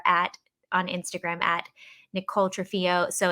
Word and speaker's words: Trunfio: on instagram at nicole trafio so it's and it's actually nick trumpio it's n-i-c-t-r-u-n-f-i-o and i know i keep ruining i don't say it like an italian at all i'm the worst with